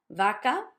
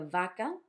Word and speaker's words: vaca: So they will always, by default, make a B sound. You can say it in these 3 words. I can say barco, barco with a B. Vaca, you see that I make a vaca.